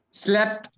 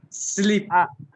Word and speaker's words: sleep: these and this thing it would be slip and sleep that sleep pronunciation has to be there actually you're on mute